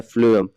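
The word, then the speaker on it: phloem: छोटा सा कोड है कि इसका स्पेलिंग होता है पी एच एल ओ ई एम लेकिन पढ़ते क्या है इसको फ्लो स्पेलिंग तो पी से होता है लेकिन पढ़ते हैं एफ से साउंड क्या है एफ का साउंड आ रहा है तो एफ से फल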